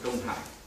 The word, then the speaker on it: Đông Hải: In Vietnam, pronunciation is Biển Đông or Đông Hải.